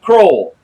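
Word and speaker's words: Kroil: you some stuff called Kroll. It's spelled just like oil with a Kr in front of it.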